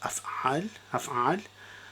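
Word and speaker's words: أفعال: So the first one is A, C, C, A, which is af'al. So this is where we take a short a is added before the first root letter, and then a long a, which is out here,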